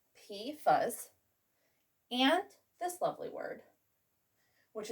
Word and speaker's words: PFAS: Well, we've got PFAS, pronounced PFAS, and this lovely word, which is pronounced Polyfluoroalkyl.